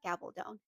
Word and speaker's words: Gabaldon: So, I bought the first book in the series, and that is Outlander by Diana Gabaldon. I just looked up the author, and that's how they're pronouncing their last name.